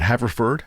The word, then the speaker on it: Haverford: Was your undergraduate, is it Haverford? Am I pronouncing that correctly?